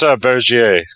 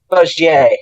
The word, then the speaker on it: Bergier: The pronunciation of that guy's name. He wrote Morning of the Magicians. Yeah, I think it's Bergier. Bergier, yes, thank you.